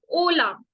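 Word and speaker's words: hola: ओला। ओला, क्योंकि एच हमारा साइलेंट है तो ओ से ही तो पढ़ेंगे।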